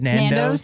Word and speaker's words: Nando's: Nando's, yeah.